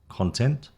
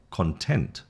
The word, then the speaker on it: content: refuse or refuse, address or address, content or content. So you see the emphasis is the noun, the first syllable, the verb is the second syllable.